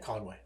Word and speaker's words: Conway: Conway.